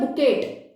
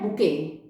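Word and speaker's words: bouquet: कुछ बच्चे से बोलते हैं बुकेट, तो बच्चों यह गलत है, सही प्रोनाउंसिएशन होती है बुके।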